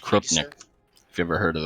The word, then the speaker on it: Krupnik: So, just real quick, I wanted to tell you, in Polish it's pronounced Krupnik.